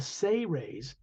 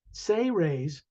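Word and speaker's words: Seras: it sounds like the say raise say raise is s-e-r-a-s but it's pronounced as if it was spelled s-a-y hyphen r-a-y-s say raise a a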